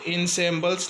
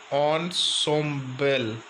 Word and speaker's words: ensemble: इसको इनसेम्बल्स नहीं पढ़ेंगे, इसका प्रोनाउंसिएशन दिया है ऑनसोम्बल, ऑनसोम्बल, ऑनसोम्बल.